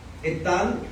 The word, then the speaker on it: Etán: Etán es E-T-H-A-N. Acento en la A. En Hemán y en Etán el acento va en la última A o en la A.